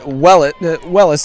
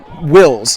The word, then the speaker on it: Wells: You know, it's funny how we pronounced it Wellis the entire season, and only during the championship have we been told that it's pronounced Wills.